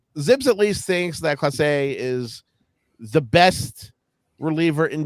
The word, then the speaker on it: Clase: it it sounds almost French because you know you'd say something's Clase it is the number of people who say Clays uh and I I know